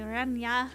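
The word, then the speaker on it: Renard: And I'm just like, oh, because like you don't even pronounce the last R. It's like renya.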